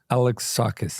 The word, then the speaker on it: Alexakis: check I don't care what is the correct pronunciation by way Alex saw the band KISS Alex sakis all right we got